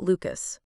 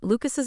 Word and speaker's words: Lucas: convo for the record lucas's name rhymes with mucus don't get me wrong